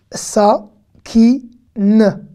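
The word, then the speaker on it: סכין: D'accord, le noun à la fin, le noun sofit, que vous voyez à la fin, n'est pas vocalisé, il se prononce en e muet. Sa, ki, n. Sakin.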